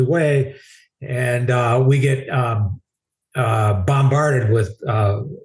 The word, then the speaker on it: Hue: Of course, we didn't know how to pronounce it because we're calling it Hugh. Hey, we're going to Hugh. Where the hell's Hugh? I never heard of Hugh. So heading up to Hugh, actually Way, and we get bombarded